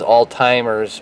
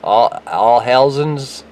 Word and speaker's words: Alzheimer's: Everybody says all-timers, but I don't want to make everybody mad because that's not how you pronounce it. So it's the Alzheimer's, Alzheimer's.